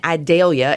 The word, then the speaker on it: Idalia: And so Hurricane Idalia, and the only reason I ever remember how to pronounce it properly is we have a little town just to the south of us called Vidalia, and so every time